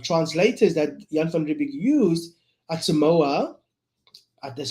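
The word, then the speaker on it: Autshumao: three of the the well-known koi u translators that Yanibbe used Atsumoa that's how you pronounce it Duman and the little girl that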